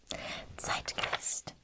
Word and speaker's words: Zeitgeist: time period okay that is the meaning of zeitgeist zeitgeist and uh watch the pronunciation here sight geist sight now this word